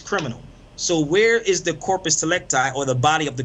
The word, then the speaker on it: corpus delicti: There's a term called corpus delicti. Did you hear that clear? Yeah, corpus delicti, yeah. All right, let me spell it out for everybody real quick.